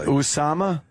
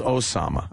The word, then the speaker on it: Osama: Usama. Did he go with the Usama? Well, Fox is Fox loves saying Everyone else is Osama.